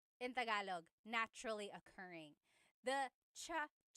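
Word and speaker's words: tsaa: Almost polyglot said it's like the word cha. Cha in Tagalog is t like the tea that you drink and it's spelled ts aa. Cha. Cha. That's such a Tagalog spelling. I love it. There's the ts sound and then the double vowel uh pronunciation.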